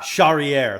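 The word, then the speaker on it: Charrière: and go with battle Morgan Cheri Cher Shier Shier thank you and and excellent pronunciation mer taking on Gabriel Miranda yeah shakier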